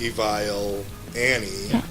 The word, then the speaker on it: Evile: with our name because we pronounce ourselves evil annie and you know some